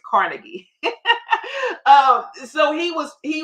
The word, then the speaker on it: Carnegie: he has long gone named Napoleon Hill and he was tutored under um um Andrew Cargi Cargi I think I'm pronouncing that right but the American way we said is Carnegie um so he was